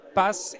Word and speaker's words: Pass: Donc je le rappelle, Associate Partner chez HR Pass, il faut le prononcer en anglais, donc Pass, et Francesca Zanizzi, C'est très bien.